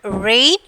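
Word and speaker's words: reign: Sixth one, rain. Which letter is silent? G. Rain. So G is the silent letter.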